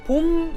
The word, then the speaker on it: 봄: Spring, 봄. just one syllable.